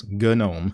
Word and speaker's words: GNOME: it's an acronym - not the word gnome it's not the English word gnome it's good gnome and it's meant to be pronounced that way yeah when will you